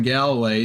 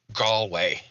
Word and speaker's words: Galway: Proto Larson here in Galloway to Tesco and Belfast and JC's Drive says it's pronounced Galway Galway hold up a second what time is it it's 5 42.